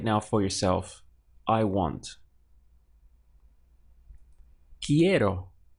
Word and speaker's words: quiero: want in Spanish is quiero so we have qu I 4 key and then arrow key arrow in English we have